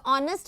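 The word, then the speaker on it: honest: तो ऑनेस्ट हमारा क्या होता है, H that remains silent, this H remains silent, ये एच कैसा रहता है, साइलेंट रहता है, बोला नहीं जाता है इसको इधर, है ना, ऑनेस्ट रहता है ये ओ।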